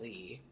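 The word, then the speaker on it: Leigh: married six times his first wife was janet lee spelled l-e-i-g-h but jamie lee doesn't spell it well no because it's a middle name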